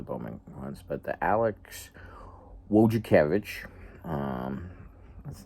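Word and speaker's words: Wojciechowicz: But the Alex Wakavich, um that's not necessarily how you would first try to pronounce that last name, but that's what it is.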